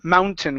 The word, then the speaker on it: mountain: This word is pronounced mountain instead of mountain. Okay, it's mountain with a short I sound.